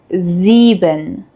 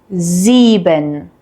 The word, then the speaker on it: sieben: We have a voiced S sound, which is a soft buzzing sound. This sound uses your vocal cords, similar to the English Z in zoo.